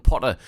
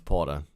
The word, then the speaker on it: Porter: The last one, Potter. Spelled with with an A at the end. Potter. You know what? People call me or Potter all the time, and even though it's Porter and with an EN.